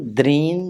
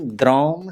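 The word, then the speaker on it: द्रां: मंत्र है ओम द्रान द्रीन द्रौम सह शुक्राय नमः। ध्यान रखिएगा, कई बार होता है कि द्राम बोल देते हैं, म का उच्चारण नहीं करना है, द्रान न का उच्चारण करना है।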